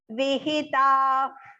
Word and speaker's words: vihita: Yajyascha vihita. Vihita. So vi he small and ta long and then exhalation and then pura.